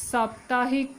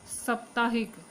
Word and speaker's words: साप्ताहिक: ऐसे लिखा जाता है इस साप्ताहिक की सप्ताहिक बोला जाता है साप्ताहिक इसका ठीक उपचार है और शुद्ध वर्तनी साप्ताहिक इसके बाद अत्यधिक अत्यधिक